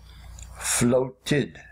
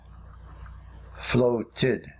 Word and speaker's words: floated: te d for the past tense but we pronounce it floated floated floated all other verb endings when verbs and in